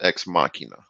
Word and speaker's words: Ex Machina: And I remember it's pronounced ex machina.